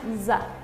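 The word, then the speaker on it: ざ: Sa con tenten será una za.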